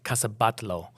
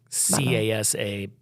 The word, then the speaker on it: Casa Batlló: But my favorite of the things that we did that were Gaudi's was the Casa Batlló. And I don't think I'm pronouncing it right, but it's I think you are. Casabatlo, by the way.